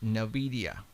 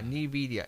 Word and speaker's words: Nvidia: was put there by this company and the pronounce Nvidia n Nidia Nvidia huh Nvidia Nvidia okay that